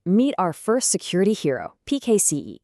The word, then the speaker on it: PKCE: All right, meet our first security hero, PKCE. It's usually pronounced pixie and it stands for a proof key for code exchange.